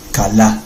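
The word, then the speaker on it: כָּלָא: Las dos veces con a, con el sonido a. Kalá, esa es la raíz común de kil ayin. Nuevamente una kaf, una lamed, una alef. ¿Ven? K a l a.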